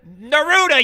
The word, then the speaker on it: Neruda: looking for and she said his name is Neruda you idiot she picked up a stapler and